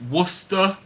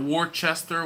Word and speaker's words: Worcester: Island super Johnny's in Austin tom is in Worcester and that's pronounced Worcester Worcester ok not Worchester Worchester Worcester ok Baxter Craig is in Spotsylvania